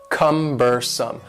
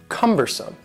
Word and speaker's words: cumbersome: next word is cumbersome the word cumbersome has three syllables and the stress is on the first syllable cumbersome cumbersome and something that is